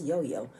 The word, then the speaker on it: Yo-Yo: That's Yo Yo. But in Spanish, it's pronounced Yo-Yo. Pronounced JoJo.